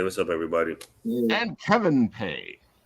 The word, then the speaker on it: Pei: up everybody and Kevin pay pay right yeah oh cool I usually say names wrong I like to tell people to pronounce my last name it's literally pay me money that's the Americanized way literally pay me money